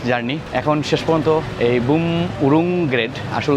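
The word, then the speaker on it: Bumrungrad: এখন শেষ পর্যন্ত এই বুম উরুং গ্রেড আসলে উচ্চারণ করা খুবই কঠিন এখানে লোকালে সবাই বামন গ্রেড বলে হসপিটাল ইন্টারন্যাশনাল হসপিটাল আমার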